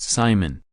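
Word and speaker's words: CIMON: But the scariest part of the payload is a German robot named Simon, pronounced Simon, which has been dubbed a flying brain.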